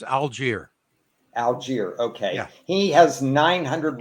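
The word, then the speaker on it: Allgeier: just it's actually make it easy it's it's algier Alger okay he has 900 running yards exactly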